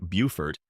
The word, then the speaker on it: Beaufort: Beaufort, pronounced like Beaufort, is low country life at its most enchanting.